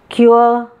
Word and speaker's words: cure: So, poor, cure, sure, tour. Okay. Poor. It is not, we Indians pronounce it as a poor, but it is not poor.